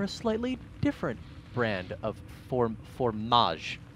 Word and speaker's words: fromage: And this time, he may be going for a slightly different brand of formage. Yes. That is how you say it, yes? Fromage. With a terrible accent, of course.